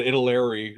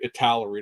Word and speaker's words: Italeri: But I'd love to know who the guy at Italeri or Italari, depending on how you want to pronounce that, was the guy